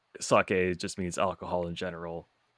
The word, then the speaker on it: sake: Oh yes, the first one we'll talk about is sake, which in English, first off, usually people say sake, so usually we don't say it correctly.